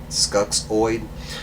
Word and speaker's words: Skuxxoid: So his name is, and I'm probably going to mispronounce this, Skulloid? It's right there if it'll zoom in. You can freeze frame it if you want to. It's SKUXXOID. Skuxoid.